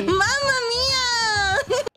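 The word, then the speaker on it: Mamma Mia: know no guys no you're saying it wrong Hey listen you saying wrong it's mama with double m Mama M M M Mama Mia have you ever watched 50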